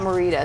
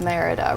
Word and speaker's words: Merida: what's her name Merida I always say it wrong it's not Marita it's Merida right is that right okay